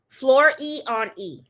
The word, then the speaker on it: Floriani: stuff so yeah um pronounced floor e and floriani floor e on E that's how you take